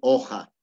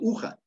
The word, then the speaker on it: oja: Entonces la pronunciación va a ser oja. Oja. No va a ser uja.